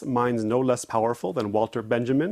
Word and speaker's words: Walter Benjamin: And honor cites minds no less powerful than Walter Benjamin or Walter Benjamin if we want to use the correct German pronunciation.